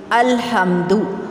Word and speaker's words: الحمد: اس طرح سے بنا الف زبر لام ال، ہا زبر میم ہم، دال پیش دو، الحمد۔ اور اگر ہم اپنی نانی یا دادی سے پڑھیں گے تو وہ ہمیں پڑھائے گی الحمد۔ الحمد پڑھنے سے مجہول